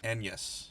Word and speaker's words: Agnes: That is about William Shakespeare and his wife, who most people refer to as Anne Hathaway, but apparently, technically, the name is more correctly pronounced Agnes.